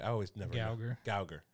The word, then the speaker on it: Geiger: Gauger. Yeah. Like Gal Gadot.